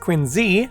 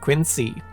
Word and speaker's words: Quincy: president, John Quincy Adams, is supposed to be pronounced Quincy, not Quincy.